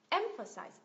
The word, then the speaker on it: emphasize: emp emp emphasize emphasize nhắc lại nhá âm thứ nhất được Nhấn này âm thứ ba cũng được Nhấn nhưng mà nhấn nhẹ hơn này và âm thứ hai không được Nhấn nó là sound emphasize emphasize emphasize cảm giác như nó không phải là một cái nguyên âm nào cả mà nó gì chỉ chỉ là một cái sự chuyển chuyển giữa cái phụ âm này sang cái phụ âm khác nó chỉ là sự